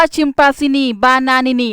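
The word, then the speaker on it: Chimpanzini Bananini: การ ซื้อ มา แล้ว มัน อ่าน ว่า ชิมปาซินี บานานินี โอ้โห โอเค อ่ะ ซินี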